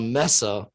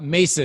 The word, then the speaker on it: mesa: spanish the word spanish it's a spanish word this person was found